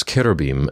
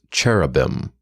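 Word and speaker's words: Keruvim: were in fact Ketuvim most English speakers mispronounce Keter beam as cherubim simply because that's how it seems like it should sound to our language rules furthermore the icons of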